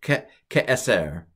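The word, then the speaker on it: כעשר: In this case, about, and then eser, sorry, it's eser, ke'eser, ke'eser. It's a seglet, and the second to last syllable is usually accented on it with a seglet.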